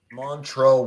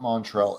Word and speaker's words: Montrell: Montrell Washington. All right, Izzy, for the win. Montrell. Okay, so I didn't spell that right. Washington. It's not Washington. Not Montreal.